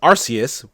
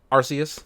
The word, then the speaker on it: Arceus: that they're talking about um pokemon legends arceus which sounds like the thing we all thought